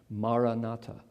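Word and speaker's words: Maranatha: time of your meditation ma Renata say it as four equally stressed syllables ma come Lord this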